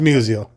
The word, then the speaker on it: Musial: Musial if I could say your name right that's all right it's been getting butchered since I was born so yeah it's museum but you guys on